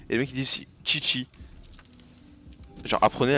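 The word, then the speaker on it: Qiqi: Et je joue aussi Chichi.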